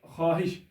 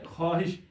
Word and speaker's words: خواہش: خواہش۔ واو معذورہ ایسا واو ہوتا ہے جو ساکت رہتا ہے، یعنی اس کی آواز نہیں ہوتی لفظ میں، جس کو ہم سائلنٹ بولتے ہیں۔ یہاں پر دیکھیں خواہش، تو جب ہم اس کا تلفظ کرتے ہیں تو اس طرح ہوگا خواہش، خ الف ہ شین، یعنی خواہش لکھا جائے گا ایسے، یعنی رسم الخط تو یہی ہوگا لیکن تلفظ یہ ہوگا۔ اس طرح خواب، خ